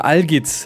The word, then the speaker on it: Algiz: Algis, ne? Algis. Oh, jeez, Junge. Ja, Algiz heißt das. Ich habe es auf Englisch ausgesprochen, aber auf Englisch klingt das ein bisschen sussy.